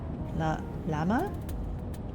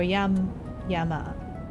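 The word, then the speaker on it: llama: For the animal, it is pronounced lama or yama, depending on the local dialect of the place.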